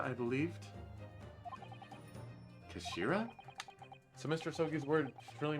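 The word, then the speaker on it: 頭: end of the hilt it's written as the head in japanese but it's pronounced as kashira i believed kashira so mr soki's word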